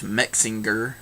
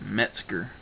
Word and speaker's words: Metzger: you know that uh he's always saying bruce mexinger like it's got an ing in there somewhere and it's metzger but anyway uh it